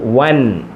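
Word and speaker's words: وًا: വാവിന് തൻവീൻ ഫത്തഹ് കൊടുത്തപ്പം നമ്മൾ വായിക്കുന്നത് വൻ. വൻ. അലിഫുണ്ട്, ഈ അലിഫിന് ഉച്ചാരണമില്ല.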